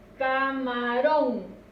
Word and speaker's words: camarón: Camarón. Escuchemos dónde recae la mayor fuerza. Camarón. Recae en ron.